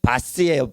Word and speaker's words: was: 그게 바스예요. 바스. W가 V자 발음이 돼요.